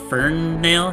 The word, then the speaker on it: Ferinale: uh or fern nail how do you say that your last name for you know like you're hankering for a nail oh i see um